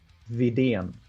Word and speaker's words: Vidén: Vidén. VDN. I got that one. So I'm not worried about that. It's like literally the letters Okay. VDN in English.